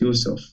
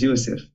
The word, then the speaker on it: Yusuf: I am from a Muslim place, so my name in the Quran is pronounced Yusuf. But as Teacher David say, and I say it, is Yusuf.